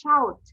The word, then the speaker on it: shout: ওকে, সো আমাদেরকে শোট বলবো না, ইটস শাউট, শাউট, শাউট।